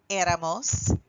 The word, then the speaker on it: éramos: So those forms are era, eras, era, éramos, erais, eran. And again, that accent on the nosotros form to make sure that we are saying éramos.